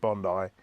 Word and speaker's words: Bondi: this it is pronounced Bondi it's named after a beach in this country and that beach is called Bondi Beach so there you go